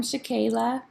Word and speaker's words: Shakayla: And is it Shakayla or Shakila? Hi, yes, I'm here. Hi, tell us your name. I'm Shakayla. Shakayla. So I said it right the first Yep, time.